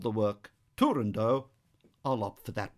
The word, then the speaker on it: Turandot: Because the word's Persian, and in Persian the final T would be sounded, some people opt for Turandot. But since Puccini himself called the work Turandot, I'll opt for that pronunciation.